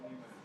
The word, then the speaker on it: Niemeyer: Lucio Costa y Oscar Niemeyer. Oscar, se escribe Niemeyer. Niemeyer. Con E. ¿Sí? Con E en vez de A. Con E en vez de A, Niemeyer. Niemeyer, de Oscar Niemeyer.